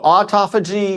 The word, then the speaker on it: autophagy: that again how do you say that so autophagy mitophagy autophagy it's and mitophagy yes okay so